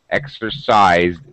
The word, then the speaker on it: exercised: z sound exercise exercise so it should be it should finish in t in t sound no because Z yeah because z z if you hold your throat and pronounce a z sound Z you can feel the vibration so it is a voice sound exercised so it just gets D have you exercised at